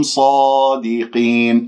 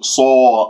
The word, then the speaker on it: صادقين: كنتم صادقين، الصاد مفخمة مرتبة أولى لأنها مفتوحة بعدها ألف، ولا تكوير للشفاه، أرجوكم لا تكوير للشفاه، لا تقول صو صو، خاصة خاصة حرف الصاد صو خطأ، ص صادقين.